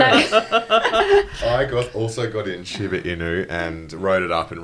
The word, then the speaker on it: Shiba Inu: But then I kept hearing about its younger cousin, if you were Shibuya. Is that how you say it? Shiba Inu. Shiba Inu. Yeah, that's it.